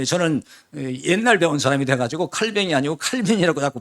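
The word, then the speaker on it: Calvin: 자, 오늘 설교가 이 전통적인 소위 칼빈, 원래 영어로 이제 칼빈이라고 하는데 그 프랑스 말로 칼뱅 그래요. 근데 저는 옛날 배운 사람이 돼가지고 칼뱅이 아니고 칼빈이라고 자꾸 발음이 되는데 영어 발음은 칼빈이에요.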